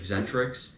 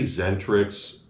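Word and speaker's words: Xentrix: Do you say Zentrix or Eccentrix? I say, because I used to say Zentrix. I think it's the X is silent, so I always say Zentrix.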